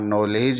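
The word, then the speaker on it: knowledge: के का उच्चारण साइलेंट हो जाएगा और यहां नॉलेज ही हम इसका उच्चारण करेंगे स्टूडेंट्स इस तरीके से के कहां-कहां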